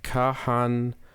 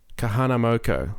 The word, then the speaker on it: Kahanamoku: So there is a here his name is Kahanamoku. Kahanamoku. I hope that's how you pronounce it. Kahanamoku.